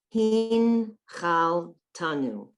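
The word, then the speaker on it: הנחלתנו: Hin chal tanu. Hin Chal chal Tanu. tanu. So again, it's a silent one. Here are the syllables. Hin chal tanu. Two silent shvas.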